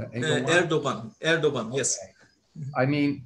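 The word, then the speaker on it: Erdoğan: think it's pretty clear that, how do you pronounce his name? Egoyan? Erdogan.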